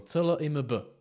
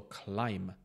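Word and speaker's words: climb: slézat hory píše to CL i MB Tak si řekneš to může bejt klim nebo clim ne je to Kim bez toho B Pokuď chceš skutečně vyslovovat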